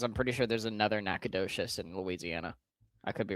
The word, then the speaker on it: Nacogdoches: Dan, how do you pronounce that town? That's Nacogdoches. Nacogdoches? Yeah. That is not what I was going to say. I can confirm it is Nacogdoches.